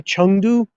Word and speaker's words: Chengdu: there you go yeah chengdu chengdu is the um is the official you know uh it's the official like mandarin way of pronouncing it let me flip the